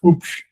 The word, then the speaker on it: Hübsch: It's actually spelled H with an umlaut, BSCH, pronounced Hübsch.